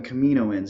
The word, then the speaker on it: Kaminoans: So these aliens, the Kaminoans, I call them Kaminoans, even though I know on Clone Wars they pronounce it Kaminoans, but I like Kaminoans, so I'm going to keep saying that.